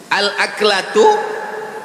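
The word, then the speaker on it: الأكلة: Al-aklatu bifathil hamzah. Cara membacanya hamzahnya baris atas.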